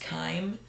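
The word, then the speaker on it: chyme: uh Kim So CH y m e is pronounced Kime that's the combination of food and digestive acids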